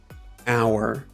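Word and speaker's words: hour: find each silent letter our our um um sign sign psychic psychic right right so our has a silent H you don't make that sound at the beginning bomb is not bomb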